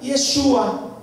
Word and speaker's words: Yeshua: Que el nombre se debe de pronunciar Yeshua.